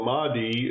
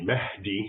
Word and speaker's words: Mahdi: So the Mahdi, as an English speaker would pronounce it, it's really Mahdi, which basically means guided.